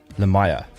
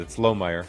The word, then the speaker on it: Lohmeyer: You did, but you put the syllable in a place that I normally don't put it. It's Lohmeyer.